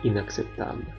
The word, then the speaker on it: inacceptable: Huruf C pertama diikuti C sehingga dibaca K, ak. C kedua diikuti E sehingga dibaca S, acceptable, tidak dapat diterima.